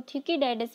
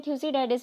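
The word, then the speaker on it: Thucydides: थ्यूसिडाइडिस के नाम के प्रोनाउंसिएशन में कहीं कहीं वेरिएशन मिलता है, किसी बुक में आपको थ्यूकीडाइडिस मिल जाएगा, किसी बुक में थ्यूसिडाइडिस मिल जाएगा।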